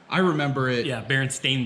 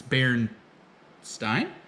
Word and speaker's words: Berenstain: I think it's Berenstein. It's spelled like Berenstain. Stain. But it might be Berenstein. pronounced Berenstein. Right. Is supposed, but usually that IE, like the Berenstein Bears, Right.